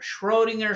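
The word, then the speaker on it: Schrödinger: shringer equation or schinger Schrodinger shringer it's hard to pronounce that because it's German it's got an uml out over the O so the shringer equation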